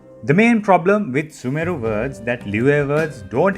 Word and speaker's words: Sumeru: I've heard people pronounce it as Sumeru, dragging the su and giving a m sound. Don't do that. So when you say the word, don't drag the su too much. Drag the meru as Sumeru. Sumeru.